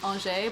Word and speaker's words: Angers: easy to say because the last town i studied i brought in was ange but it's spelled like angers yes i remember that